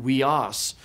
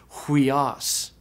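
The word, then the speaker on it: υἱός: word for son hias now earlier when I said the word Sun you didn't know about breathing so I just pronounced it weos but it does have a rough breathing so it is technically pronounced hias and theas means of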